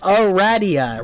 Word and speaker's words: Aradia: You're saying it wrong. Aradia. Raz and the god Ra. Ra. The staff of Ra. Aradia. Aradia? Aradia. As in radiation. As in Toby Radiation Fox.